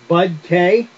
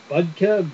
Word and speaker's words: BudK: you every once in a while um it's BUDK I always thought for the longest time I